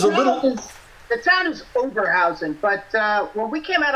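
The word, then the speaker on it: Oberhausen: You got to say it with a German accent in English. Overhausen. Overhausen. Yeah. You got it perfect. All right, and of course there's a little. The town is Overhausen, but when we came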